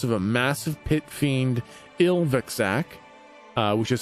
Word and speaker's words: Ilvaxak: You were taken to the house of a massive pit fiend, Ilvaxak, which is spelt I-L-V-A-X-A-K.